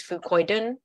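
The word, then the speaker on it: fucoidan: I mean, Eternity's main ingredient is the resveratrol, and Fucoidin's main ingredient is Fucoidin, F-U-C-O-I-D-A-N, which is spelled differently, but same name, pronounced the same.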